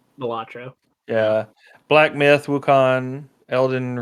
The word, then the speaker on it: Balatro: They've got Astrobot, Belantro. I guess that's how you say it. Balatro.